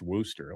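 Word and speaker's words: Worcester: Uh you know, like like Warchester, Massachusetts is pronounced Worooster.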